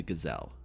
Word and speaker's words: Gazelle: general implication we have the gazelle or as it is pronounced in nolan gazel we see that the